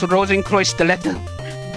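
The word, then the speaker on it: Rosenkreuzstilette: And by the way, Mocha, it's Rosenkreuz Stilette. That's how you pronounce it.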